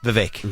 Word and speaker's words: Vivek: Vivek.